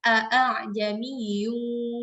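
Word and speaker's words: أأعجمي: Jadi bukan ya, bukan a'jamiyyu tapi a'jamiyyun wa 'arabi. Jadi hamzah pertama kita baca dengan jelas, sedangkan hamzah kedua kita tashilkan atau kita mudahkan pengucapannya di antara bunyi hamzah dengan alif.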